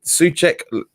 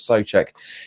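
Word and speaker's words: Souček: said you know we'd sucuk so check sorry I keep saying it so that's how you pronounce it is so check you know but you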